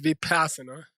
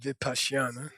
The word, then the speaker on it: Vipashyana: First of all, it's not pronounced Vipassana. Oke, pertama-tama tidak diucapkan Vipassana. That's a corruption of the word Vipassana.